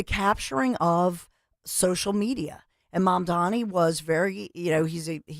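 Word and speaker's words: Mamdani: Well, I think first and foremost, if you look at Zoran, mom Donnie, and by the way, Cuomo kept saying Mandonni like M O N.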